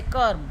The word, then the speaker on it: कर्म: जैसे कर्म, तो र पहले बोला गया, म बाद में बोला गया।